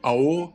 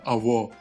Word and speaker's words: аво: Например, век — трава, ва — нет, аво — есть, имеется. То есть не ао, а аво.